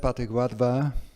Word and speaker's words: Pathik Wadhwa: So, I'd like to introduce Pathik Wadhwa, and I know I'm not pronouncing his name correctly, but it's, you say it as you spell it, Pathik Wadhwa.